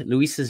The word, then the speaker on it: Luisa: As a small aside, Luisa's name is pronounced with the S.